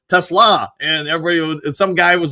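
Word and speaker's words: TeSlaa: I was like look this is the kid pronouncing his name. It's Tesla and everybody some guy was like well I'm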